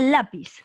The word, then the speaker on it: lápiz: tu clave el lápiz qué cosa es grave o aguda grave grave muy bien porque la tilde dónde está en la a y eso está en la que aunque sílaba en la penúltima la penúltima muy bien